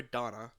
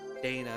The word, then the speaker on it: Dana: why Dana my queen do do you pronounce her name as Dana or Donna because I've seen it pronounced two both ways I but I I I want to I want to see what the survey says I might need to get some more water soon Dana is how voice pronounced that okay I see fellow Dana pronouncer otherwise it would be Donna in my mind okay the